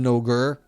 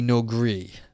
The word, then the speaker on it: Noger: It's exactly, if it's based on my name, it should be No Gree.